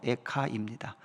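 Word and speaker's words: איכה: 애가는 우리말로도 한자로 애가지만 이 책의 히브리어 발음도 에카입니다.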